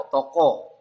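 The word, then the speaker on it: 男: ya kanjinya laki-laki ya kalau kungyominya ini dibaca otoko Ya kalau onyominya dibaca dan atau n ya analoginya untuk kanji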